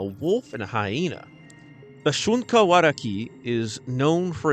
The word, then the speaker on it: Shunka Warakin: the shunka waraki uh it has a an i in at the end but I heard that it's just an e the N is silent but the name roughly